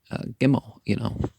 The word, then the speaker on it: Gimel: Well, if we're referring to camels repeatedly, remember the letter G, Gimel, and it's not pronounced with the J sound ever, but this is set